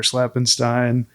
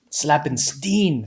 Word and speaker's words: Slappenstein: Slappenstein. There's a few folks that that we have. Slapenstein say slappenstein depending on your on your pronunciation. Either one works.